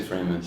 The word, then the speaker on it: Framus: Are you saying it in German or how do you say that? I say Framus.